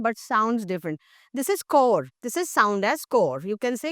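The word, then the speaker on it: corps: Looks totally different but sounds different this is कोर this is sound S कोर कोर यू कैन से कोर। सो I have told you earlier also when we talk about the word NCC इट is national cadet कोर।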